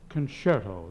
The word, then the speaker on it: concerto: uh miss davis uh that's pronounced concerto the c is pronounced this in type see i